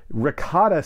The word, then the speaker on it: Rakata: And then we see briefly representatives of the Rakata species, R-A-K-A-T-A, and they have this whole thing